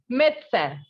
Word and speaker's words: médecin: The sound of IN in French is un, right? And I have already told you that whenever you find such a E with an accent on it, then the sound will be A. So it is médecin.